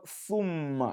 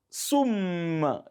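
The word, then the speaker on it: ثم: When you just say, for instance, the word thumma in the Quran, which means then, thumma, and you say sum, you have just pronounced sin.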